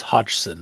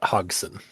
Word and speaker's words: Hodgson: of a name, but it is Hodgson, not Hogson. Oh, because there's there's there's a D before the G.